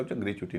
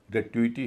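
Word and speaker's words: gratuity: इसको कहते हैं ग्रेचुटी। लेकिन इसका ग्रेचुटी नहीं है। ग्रेटुटी है। ग्रेटुटी और पांचवा शब्द A double N यू आई टी वाई।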